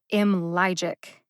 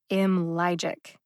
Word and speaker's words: IMLYGIC: to say it a little bit louder than the other syllables m logic m logic if you know music terms it'll help you understand what i'm about to say i would say that the syllable lie in m logic has a staccato quality staccato is a music term it just means you punch it you give it a punch land on the syllable lie intentionally so it stands out m logic where